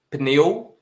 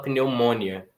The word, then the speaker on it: pneumonia: Não tem ditongo crescente, porque você não fala pneumonia. Em inglês é mais ou menos por aí, né? Pneumonia. Em português a gente não coloca a força no on, a gente coloca a força no i.